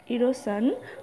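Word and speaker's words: erosion: বা সামাজিক বহিষ্করণে ভোগে পরের ইংরেজি ওয়ার্ডটির উচ্চারণ হলো ইরোসান আর ও error S আই ও এন সান ইরোসান মানে হলো বাংলা মানেটা হচ্ছে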